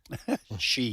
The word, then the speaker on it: Xi: approval between him and Chinese President Xi Jinp Xi. That's how he's that's his how he's pronounced.